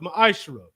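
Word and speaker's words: מעשר: Means 10th in the Hebrew is pronounced ma'ashra.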